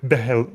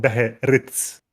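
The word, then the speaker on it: Beherits: it made me think about how uh, that Beherids, as they are now called, and I always call them Behelit. Behelits, Yeah. but they're actually called Beherids, Okay.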